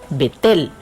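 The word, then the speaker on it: בית אל: entre rama ebay y beit él que se pronuncia en hebreo vettel en las montañas de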